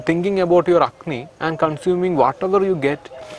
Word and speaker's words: Agni: Actually, the word is Agni. Agni. Okay. So maybe because of the pronunciation we are not getting everything, but the